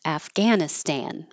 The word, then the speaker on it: Afghanistan: and we started with Afghanistan and this is the American English pronunciation that I hear the most often with a lot of a for American a afghanan Afghanistan and this